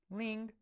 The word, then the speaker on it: 零: So for the first one, 0, this is how 0 is pronounced in Chinese. 零 Ling, ling, to me it kind of sounds like ring.